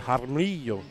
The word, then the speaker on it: Jaramillo: I said Jaramillo. That's how you say the Jaramillo. That's what I'm saying. The J is spent with an H. That's how you say it in Spanish. So just so you know, Frito, you say Jaramillo like that in Spanish. The J is pronounced an H.